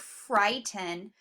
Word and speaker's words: frighten: We already know our IGH is working together to say I, so we divide between that IGH and then our T. So frighten. You hear that syllable being accented? Frighten.